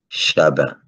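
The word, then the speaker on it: Chavín: alors chavin comme on va prononcer avec la phonétique espagnol levé donc deviendra b et on va dire chabin comme on dit en créole aujourd'hui alors aujourd'hui on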